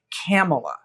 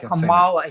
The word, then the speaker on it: Kamala: version of Romi aler camela yeah instead of Kamala he has a new way to mispronounce it um anyway um she